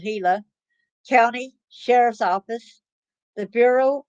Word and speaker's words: Gila: is urged to call the Gila it's spelled g l a and it's called heila County Sheriff's Office the